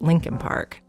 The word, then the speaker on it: Leakin Park: here about linkin park it's actually spelled leakin park l-e-a-k-i-n but almost everyone in baltimore pronounces it lincoln park it's huge over a